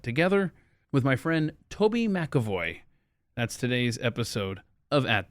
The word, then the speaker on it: McEvoy: McEvoy. All right. 6 letters, Okay. 3 syllables, accent on the first one where there's no vowel.